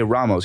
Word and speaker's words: Ramos: Now, if a player's name is Ramos, you say Ramos. You don't say Ramos, Remos, Romos.